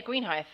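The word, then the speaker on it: Greenhithe: hive where is that that's what green heist spell it for me g-r-e-e-n h-i-t-h-e yeah green height that's a town in south london if he's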